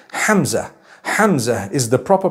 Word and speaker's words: Hamza: Hamza is the proper pronunciation. Hamza. It starts with a ha, it has a mim, zai, and it has a ta marbuta at the end.